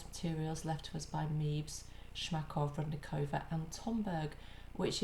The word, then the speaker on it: Mebes: I keep calling you Mebes, I'm sorry, that's my English pronunciation. The correct pronunciation is Mebes, so forgive me.